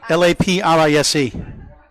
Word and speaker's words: Laprise: LAPRISE. for Alex.